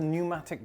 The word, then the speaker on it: pneumatic: It's called a pneumatic drill. I think the P is silent.